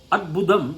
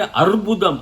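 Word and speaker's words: अद्भुत: Adbudam inside. In Tamil they say Arbudam. Arbudam is cancer in Samskrita. So you have to be very careful while pronouncing Samskrita.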